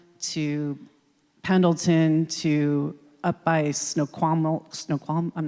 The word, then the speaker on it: Snoqualmie: I've driven in one weekend from Yakima to Pendleton to up by Snoqualmie, I'm not even going to say it right. Thank you, Snoqualmie.